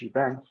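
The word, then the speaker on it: shebang: you know hash symbol exclamation mark this is pronounced gbang and and it defines the shell that will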